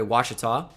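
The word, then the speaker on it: Ouachita: university in gregory junior that's how you say it by the way washita and then monterey brown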